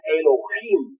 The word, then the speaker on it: Elohim: Elohim, que se se pronuncia Elohim porque la H suena como J y significa yos.